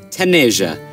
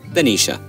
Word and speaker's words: Tanisha: Now I've been joined with Miss Tan, Tasmin Tayyiba Taneja. That's how I say her name, but her name is actually Tasmin Tayyiba Tanisha.